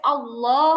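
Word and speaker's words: الله: এখানে আল্লাহ শব্দের আগে জবর আছে। আল্লাহু। আল্লাহ শব্দের আগে আলিফে জবর আছে।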